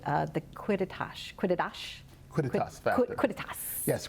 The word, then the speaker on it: quidditas: Quidditas. Yes, Quidditas is That means Latin.